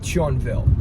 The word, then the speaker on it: Thionville: It needs to come quickly, but it is going to be Thionville, or maybe how you pronounce it in French, Thionville.